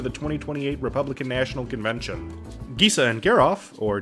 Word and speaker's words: Gisa: Gisa and Geralf, or Gisa and Geralf if you pronounce Jif wrong, are the typal commander for this list.